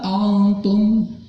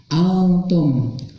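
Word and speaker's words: أنتم: La a'budu ma ta'budun wala antum. Nah, antum kita hapus dulu ya yang atas. Antum di sini hukum tajwidnya adalah ikhfa. Ikhfa itu artinya samar, dibacanya samar, tidak jelas.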